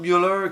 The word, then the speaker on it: Müller: Oui, Rob Müller qui est Müller, on va le prononcer quand même à à l'Allemande qui avait au hasard